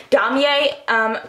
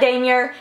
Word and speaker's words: Damier: And this is the damier print, and yes, I finally learned how to pronounce it. Damier. It's not damier, it's not whatever, it's damier.